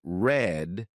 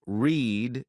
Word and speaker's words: read: at all for example why are read pronounced red in the past tense and read pronounced read in the present tense or why is mice